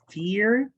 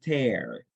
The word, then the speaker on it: tear: So one thing is tear, and tear. So, so that's the only difference, but it's the same spelling, different pronunciation, different meaning.